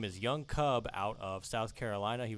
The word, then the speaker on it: YoungKub: Like you said, I go by YoungKub, spelled with a K. It's YOUNGKUB.